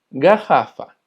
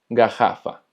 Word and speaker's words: garrafa: También cuando tenemos doble R se va a escuchar como una J de nosotros. Por ejemplo, garrafa, que significa botella, garrafa.